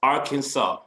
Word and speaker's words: Arkansas: state are can solve now i know that looks like our kansas no it's arkansas capital of arkansas is